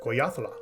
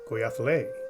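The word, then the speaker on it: Goyahkla: I've heard his Apache name pronounced different ways: Goyathla, Goyathle, Goyakla, and Goyakle. Since my grasp on the Native American languages is kind of weak, I'm not committing to any of those.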